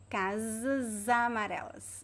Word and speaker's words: casas amarelas: naturally casas amarelas so the s connects with the vowel and as you know if you did if you if you took my free course in pronunciation you know that the s between two vowels is pronounced as a z z as in zebra so zebra so we should say casamareles so it's a z sound if you say just